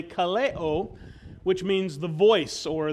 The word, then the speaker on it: Ka Leo: same word in Hawaiian spelled the same but pronounced slightly differently Kaleo which means the voice